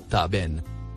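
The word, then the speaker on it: ثعبان: Le mot écrit en rouge, se prononce, Taben.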